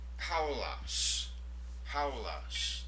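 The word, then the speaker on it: Παῦλος: The proper name, Paul, Paulos. There we have a diphthong. Alpha, upsilon, ow sound to it, so Paulos.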